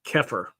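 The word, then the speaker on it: Xeper: Sedians engage in magical workings to en enhance their zepher, an Egyptian term pronounced oh sorry it's pronounced keir adopted by Aino meaning to become or self-evolution.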